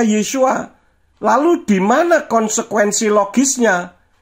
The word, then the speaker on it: Yeshua: Kalau hurufnya nama Sang Juru Selamat terdiri dari rangkaian huruf Yod, Sin, Waw, Ayin, bagaimana mungkin bisa dibaca Yahshua? Tentu membacanya Yeshua.